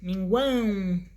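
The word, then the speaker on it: mínguam: Os tritongos podem ser orais iguais, averiguou, ou nasais quão, saguão, minguam, cuja pronúncia do quão a pronúncia é quão, saguão, minguão, mas se escrevem com a e o tio arriba, em cima.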